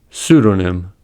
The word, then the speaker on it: pseudonym: Secondly, the P is silent in the following words: core, coup, cupboard, raspberry, receipt, pseudonym, psalm. Silent B words.